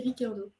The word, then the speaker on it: Ricciardo: Et sachez que lui-même le prononce sans le i, il dit Ricardo.